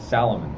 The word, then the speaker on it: Salomon: Yeah, that's how do you say salmon? Well, no, it's Salomon.